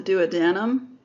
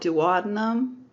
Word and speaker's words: duodenum: of the critical part it's called the duodenum some people call it duodenum and either pronounciation seems to be correct as far as I can tell the second part and